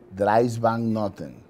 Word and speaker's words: Dries Van Noten: cris vanas haider ackermann lavín louis vutton dries van noten yo he llama moto como día louboutin